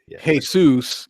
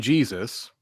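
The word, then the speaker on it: Jesús: just a pronunciation because you also have yeah hey soos and Jesus right although generally speaking I don't hear people called Jesus very much usually its hey soos well I think it's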